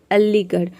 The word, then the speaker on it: अलीगढ़: जैसे कि देखिए यहाँ पे अलीगढ़, अलीगढ़ में आप देख रहे हैं कि आर एच एक साथ आ रहा है, यहाँ पे आर एच को हम ढ प्रोनाउंस करते हैं, तभी इसको हम बोलते हैं अलीगढ़।